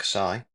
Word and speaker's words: xi: So this Greek letter, and we pronounce that xi, represents the universal set, and that contains all of the elements used.